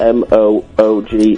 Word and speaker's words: Moog: The Monkees were the second group to use the Moog, spelled M-O-O-G, Pronounced Moog, synthesizer on a pop album.